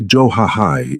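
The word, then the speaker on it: 좋아해: "Try johahai instead. Johahai. It means, I like you, and works for everything from your favorite food to expressing affection." "Johahai bibimbap," she said, making him laugh, a sound that startled them both.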